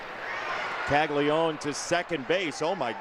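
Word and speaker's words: Caglianone: It is Tag Leone. Not like Tag Leone. Yeah, it's it feels like there's an extra N, but it's actually pronounced Tag Leone.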